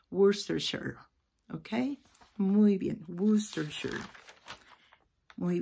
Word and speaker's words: Worcestershire: Y así se va a pronunciar toda esta palabra tan grande. Termina en 3 sílabas. Worcestershire. Nos costó trabajo y se fijaron cuando empecé a leer que les di 3 pronunciaciones diferentes porque me cuesta recordarlo. Hace 7 años que estuvimos allá, así que de repente se me olvida, pero esa es la pronunciación, Worcestershire, ¿ok?